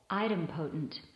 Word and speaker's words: idempotent: notes and people i would probably guess you would pronounce it incorrectly so item potent so now that's the